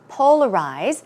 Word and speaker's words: polarize: what about this polarize polarize stress goes on the first syllable and some synonyms are